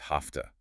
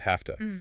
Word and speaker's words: hafta: And the phonetic change here is also interesting. The V sound in have is unvoiced to an F sound hafta because it precedes the hard T sound of to. This is an example of one sound accommodating the sound that follows it just for flow.